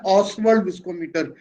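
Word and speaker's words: Ostwald: और relative viscosity के लिए हम जो इंस्ट्रूमेंट यूज करते हैं उसका नाम है ऑसवर्ल्ड विस्कोमीटर। टी साइलेंट है इसमें, इसको बोलते हैं ऑसवर्ल्ड विस्कोमीटर।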